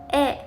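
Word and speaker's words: へ: going to learn is e is written as he in hiana but pronounced as e we usually use the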